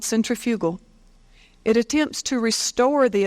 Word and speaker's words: centrifugal: it the centripedal and the centrifugal the proper pronunciation of those words if you're scientific is centripetal and centrifugal but for the sake of U hearing I'm